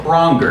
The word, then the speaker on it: Braunger: Is it Braunger or Braunger? It's Braunger, but I imagine some people might pronounce it that way.